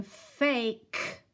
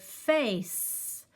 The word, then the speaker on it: face: hiss like a snake so instead of this word being fake it is actually the word face like you have a face okay so that was